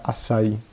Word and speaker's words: açai: molto curiosa perché cercata questa si chiama assai scritta a cai italianizzandolo però si pronuncia assai questa pianta è una